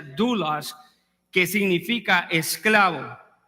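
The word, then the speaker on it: δοῦλος: en el original es una palabra que se pronuncia douglas que significa esclavo y romanos 1 1 dice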